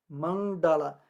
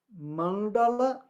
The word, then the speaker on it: Mandala: último vai ser longo então é Mandala ou manda lá tá bom a primeira sílaba é longa porque tem encontro consonantal do n com o d Mandala que mais Então tá